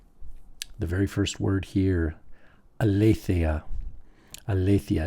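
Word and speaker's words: ἀλήθεια: The very first word here, aletheia. Aletheia. Notice the accent is on le.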